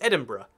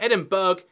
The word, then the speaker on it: Edinburgh: It's Edinburgh.